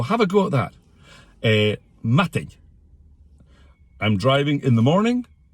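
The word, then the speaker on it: madainn: Most people say matin, but it's matting. Bit like that Spanish N in words like mañana.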